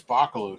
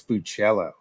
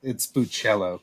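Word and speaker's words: Bachalo: I got the one that Chris Boccolo drew. Nice. I think it's not to. My buddy Marco Galli was friends with Chris for years and years, and I think it's Buccello.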